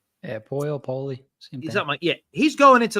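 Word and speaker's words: Poile: Nashville was Dave poy I think you say poy is pronounced yeah po poy same yeah he's going into the Hall of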